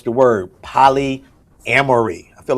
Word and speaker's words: polyamory: It's the one that deals with multiple relationships, though you are not married, and it is pronounced Polyamory.